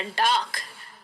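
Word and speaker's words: dark: डार्क, जैसे हम डाक पोस्ट ऑफिस कहते हैं ना हिंदी में, ये डाक को वैसे ही प्रोनाउंस किया जाता है, इसका जो आर होता है उसका आवाज बहुत कम होता है, और अंग्रेज को तो अंग्रेज जब बोलते हैं तब तो आर सुनाई ही नहीं देता है।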